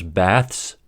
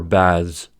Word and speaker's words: baths: but in their plural forms, they can be pronounced either voiced, ths, or voiceless, ths. For instance, bath can be said either as bæths or bæðz.